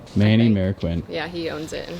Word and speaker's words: Marroquin: will screw it up manny marroquin mayor quinn there we go manny marroquin yeah he owns it